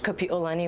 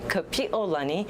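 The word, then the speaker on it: Kapiʻolani: power of the queen so we need to say her name correctly kapiolani please do not say kapiolani because to peel something means to extinguish as in a flame so you don't want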